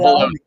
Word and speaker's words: bologna: It's called bologna.